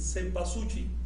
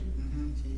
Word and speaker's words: cempasúchil: Cempasúchil. Cempasúchil. ¿Qué más? Cempasúchil. Cempasúchil, con L. Cempasúchil.